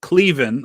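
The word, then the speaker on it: Cleven: that's uh clevin who whose name is actually pronounced cleen I found out uh his family members who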